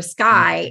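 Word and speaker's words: Schuy: So I started updating people with a page on Facebook called Sky is the Limit, but spelled like her name, S-C-H-U-Y, Sky is the Limit.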